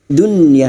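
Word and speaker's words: دنيا: “Dun ya”, seorang nun sukun bertemu a ya adalah idhar wajib, diucapkan dengan jelas tanpa sengaualisasi: dunya.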